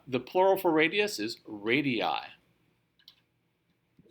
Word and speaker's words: radii: Yeah, the plural for radius is radii.